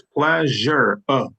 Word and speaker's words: pleasure: It's pleasure, pleasure, pleasure. Try it, pleasure. Yes, pleasure. Yeah, and I'm stressing on the first syllables, right?